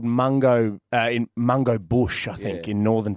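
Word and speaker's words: Mungo: M U N G O. Mango. It sounds like Mung Bean. Yeah, but it also sounds like something more derogatory. named after a place called Mango uh in Mango Bush, I think, in Northern Territory.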